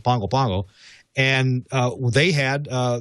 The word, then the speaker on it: Pago Pago: the capital city there is is uh is pronounced pongo pongo it's spelled pago pago it's pronounced pangopango and uh they had uh they were suffered